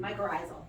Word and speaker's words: mycorrhizal: How do you pronounce that again? Mycorrhizal.